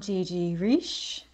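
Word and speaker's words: Gigiriche: this prison hello I'm Gigi Rish g-g-g-i-g-i-r-i-c-h-e um it's pronounced it's not rich some people get that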